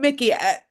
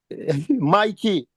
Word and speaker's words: Mikey: I call him Mickey. Mickey. Mickey Wagwan. AD, you destroy my name again. Oh, I know. I'm gonna get it together. Cause it spelled like Mickey Mouse. Mikey.